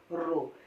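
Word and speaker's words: ρ: ये क्या है हमारा, इसको हम ग्रीक भाषा का वर्ड है, इसको प्रोनाउंस कैसे करते हैं, रो।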